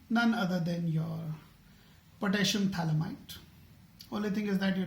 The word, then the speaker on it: phthalimide: pH is silent. It's called phthalimide synthesis.